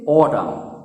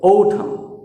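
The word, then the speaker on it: autumn: এটাও কিন্তু ভুল উচ্চারণ, আমরা শরৎকালকে বলি অটাম। ওকে, আমি বেশিরভাগ জনের দেখেছি অটাম, সিম্পলিভাবে বলে দেয় অটাম, কিন্তু এর অ্যাকচুয়াল উচ্চারণ হলো ঔঠাম, ঔঠাম। একটা কথা মনে রাখবে, ইংরেজিতে ট উচ্চারণটা যখন আমরা করব তখন একটু ঠর মতো টান দেব, যেমন ঔঠাম, অটাম কিন্তু নয়, ঔঠাম।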